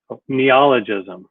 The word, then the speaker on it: neologism: Let me get the neologism. Okay, I just heard from Google how to pronounce it.